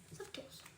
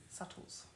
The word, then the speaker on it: subtitles: Subtitles. Subtles. But there's a B. Subtitles. Yes, but it's pronounced subtles.